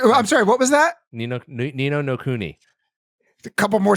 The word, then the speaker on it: Ni no Kuni: Ni no Kuni. I'm still working my way through that. I'm sorry, what was that? Ni no Kuni. A couple more syllables. Ni no Kuni.